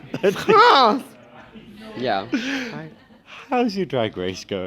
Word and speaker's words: France: Yeah, there's an R in it, and it's very important to pronounce it. France!